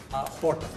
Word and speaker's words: Horta: Horta.